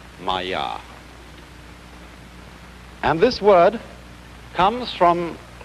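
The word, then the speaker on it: māyā: this kind of thing is the sanskrit term maya i'm going to write that down for you pronounced maya and this word comes from a root in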